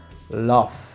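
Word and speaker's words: laugh: se escribe el love termina en letra h pero el sonido que produce como último sonido el de la f love por eso insisto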